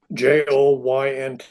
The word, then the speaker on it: Joynt: Joynt, like your elbow or your knee Oh, joint, but just spelled with a Y.